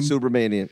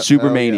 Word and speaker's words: Subramanian: Can I say his name first so it's fresh in your mind? Shyam Supermania? Subra. Subra? Manian. Manian. Okay.